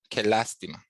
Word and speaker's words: lástima: Qué lástima. Accent on the first A.